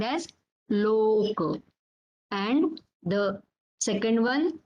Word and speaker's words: loka: Similarly, for O, this is long here. Loka, Loka, and Dosa, Dosa. Loka means the world, universe. That is called as Loka.